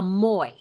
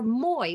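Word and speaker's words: moai: In Okinawa, they create what is called a moi, and it's, you see the spelling there, M-O-A-I-S. I believe it's called a moi. I think the S is silent.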